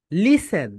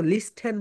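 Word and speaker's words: listen: আমরা এটাকে বলি লিসেন কিন্তু এখানে একটা সাইলেন্ট লেটার রয়েছে সাইলেন্ট লেঠা মানে হচ্ছে যেই লেটারের প্রনান্সিয়েশন হয় দেখো এখানে থি রয়েছে। থি এর প্রোনাউন্সিয়েশন এখানে হয় না। থি এখানে থি এর প্রোনাউন্সিয়েশন কি বলতো? হয় না। যদি থি এর প্রোনাউন্সিয়েশন এখানে হতো তাহলে এটা হয়ে যেত লিসন। তুমি কি কখনো বলেছ? কাউকে দেখেছো লিস্টন বলতেছে।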